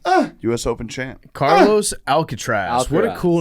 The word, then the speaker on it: Alcaraz: got another one uh us open champ carlos alcatraz what a cool name alcatraz alcatraz yeah alcatraz okay alcatraz is are we pronouncing it correct carlos alcatraz yeah you guys got it uh chase jacobs